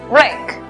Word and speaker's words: wreck: La W es muda. Por lo tanto, la pronunciación es wreck.